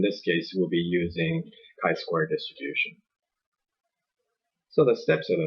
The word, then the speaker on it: chi-square: distribution of that cell ch I square so that's pronounced chi-square distribution will still be judging